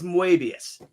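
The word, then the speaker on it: Moebius: name is John Gerard his pen name is muus it's French are you sure are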